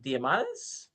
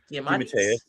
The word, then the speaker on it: DeMatteis: I'm gonna probably mispronounce his last name because I've always seen it in print. GM Diamandis. DeMatteis.